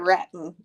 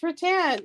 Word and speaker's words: rattan: the Rattan Furniture but she called it ratton and I was like it's Rattan no it says it's